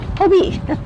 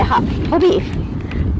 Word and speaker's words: Hobbii: I think they pronounce this Hobbii. I say Hobbii.